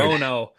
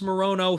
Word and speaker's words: Morono: Morono, the Great White, against Carlos Leal. I believe that's how you say it. Yeah. Alex Morono, 13-8 in the UFC.